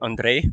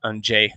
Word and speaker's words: Anje: at Istria by UTMB, because I kept saying Andre, but it's actually Anje, how you pronounce it.